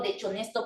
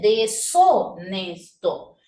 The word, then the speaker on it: deshonesto: Profe, pero ahí parece que dice dechonesto. Pero no puedo leerlo dechonesto porque la H es muda. Entonces, ahí dice deshonesto.